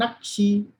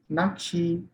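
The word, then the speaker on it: 낚시: If you don't know the rule, we will pronounce it as very sharp double K sound. Nakshi. No, we have to pronounce this double K as single K sound. Nakshi, Nakshi, Nakshi.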